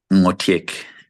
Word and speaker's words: Ngotiak: Ngotiek.